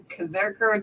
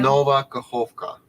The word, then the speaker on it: Nova Kakhovka: I can't pronounce. What is it? Kaverkar Dam, Kovkar Dam. Nova Kakhovka.